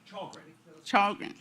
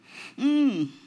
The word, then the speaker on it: Challgren: Chrin. Chrin.